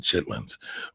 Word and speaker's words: chitterlings: look at chitterlings and we call them officially in the hood chitlins but that's how it's spelled out um you can watch